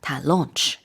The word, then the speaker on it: launch: a a rocket launch exactly launch l a u n c h and not like our that's lunch yes exactly different pronunciation launch lunch uh right to launch and